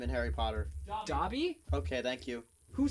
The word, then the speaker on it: Dobby: quick question m is missiles how do you pronounce the uh house self's name in Harry Potter Dobby okay thank you who said she been telling me it's Doby Doby we almost name that was one of